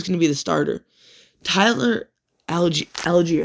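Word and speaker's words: Tyler Allgeier: Tyler Algier, that's how you say it.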